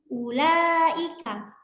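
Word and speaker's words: أولئك: Contoh nih, ulaika. Waw di sini, waw sukun di sini ditulis tetapi tidak dibaca menjadi ulaika, tidak seperti, tapi kita membacanya ulaika. Yang panjang itu la-nya, u-nya nggak panjang meskipun di sini ada waw sukun.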